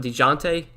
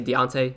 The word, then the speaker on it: Dejounte: It's pronounced DeJounte. I knew that. Did I say it differently? Did I say Deontay?